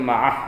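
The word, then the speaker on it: مع: Bacanya ma'ah boleh.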